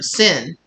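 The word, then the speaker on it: Sen: the kanji for sin for the in it's pronounced sin um and oh my gosh I'm having so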